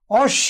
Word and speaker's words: অশ্ব: এরপর খেয়াল করো শব্দের মাঝে কিংবা শেষে যদি ব ফলা থাকে তাহলে সেক্ষেত্রে কি হবে, মূল উচ্চারণের কি হবে, দ্বিত্ব ঘটবে। কি হবে, মূল বর্ণের যে উচ্চারণ, এই মূল বর্ণের উচ্চারণটি কি হবে, দ্বিত্ব হবে। যেমন ধরো পক্ক, তাহলে আমাদের কয়ের সাথে ব ফলা এবং বটা শেষে রয়েছে ব ফলা, তাহলে আমাদের কি হচ্ছে, মূল বর্ণের এখানে কি হচ্ছে, দ্বিত্ব উচ্চারণ হচ্ছে।